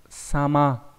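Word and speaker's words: 様: Thì chúng ta có âm cưng của chữ dạng đọc là sama.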